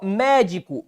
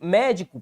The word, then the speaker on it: médico: Médico. Médico, proparoxítona. Preferência.